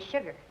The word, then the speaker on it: sugar: us trouble for example we know that the letters S and H together have the same sound in words like shut or show but there are other words that also have the sound of sh in them such as sure and sugar but we don't spell them with an sh only an